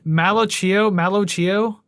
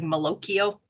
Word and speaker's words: Malocchio: Malocchio. Isn't it like Pinocchio? So it's like Malocchio.